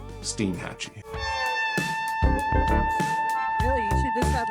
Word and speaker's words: Steinhatchee: next destination which was Steen Hatchy or Stein Hatchy as I was calling it cuz I I didn't know that the actual pronunciation was steam Hatchy really you should just